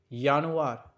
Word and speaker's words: Januar: That means Januar. The pronunciation is Januar.